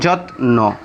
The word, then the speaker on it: যত্ন: দুই নম্বর যে নিয়ম শব্দের শেষে বা মাঝে যদি দন্তন্য ফলা থাকে তাহলে ফলার উচ্চারণ বহাল থাকে। যেমন যত্ন প্রশ্ন আমি একটু বোঝার সুবিধার্থে ভেঙে লিখে দিয়েছি যত্ন প্রশ্ন।